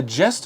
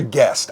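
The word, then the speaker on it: Gest: And then we're also going to play, is it A Jest of Robin Hood? I think it's a guest.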